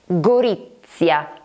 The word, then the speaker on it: Gorizia: So, between two vowels, the Z is pronounced as if there were two, even if actually there is only one.